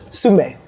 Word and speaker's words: Sumy: Yeah, that's been an amazing journey from Sumy to. I feel like I'm saying it wrong. Say it again. Sumy.